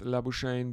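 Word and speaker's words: Labuschagne: is back on strike or laak uh as he himself pronounces it uh but he uh he says uh he's fine with labain because uh apparently no one in Australia can pronounce labaki first delivery of the sixth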